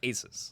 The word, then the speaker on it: Asus: Asus. Is that how you say that? That's what I've been told Okay. it's pronounced. Because Asus. I for years I called it Asus.